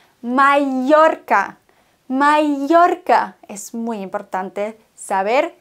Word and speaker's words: Mallorca: Viele sagen Mallorca, wenn sie das R rollen können. Mallorca. Das ist falsch, denn Doppel-L wird im Spanischen wie ein J ausgesprochen. Mallorca.